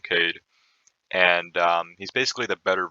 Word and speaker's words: Kaid: after that we have cade or the proper way to pronounce it i believe is kaid but most people just call him kade and he's basically the